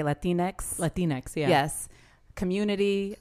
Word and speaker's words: Latinx: Latinx, yeah.